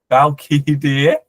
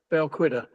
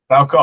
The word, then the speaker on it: Balquidder: Balkydeer in Piltdown. Is that right, Andy? Have I pronounced it correctly? I think you're on mute, understandably. Back on now? Yeah. Yeah, Balquidder. Balquidder was a bit easier than I thought.